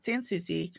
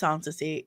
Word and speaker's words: Sansi: It's not Sanusi. It's Sansy. It's a different name.